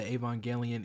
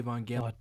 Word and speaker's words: Evangelion: main appeal for me when it comes to Evangelion is the dark and depressing nature of the show.